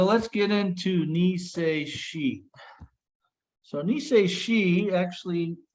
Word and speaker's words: Niseishi: So Niseishi, actually, if you pull the characters up in Okinawan, they are exactly the same characters as Nijushiho. So it's just the Okinawan pronunciation versus the Japanese pronunciation.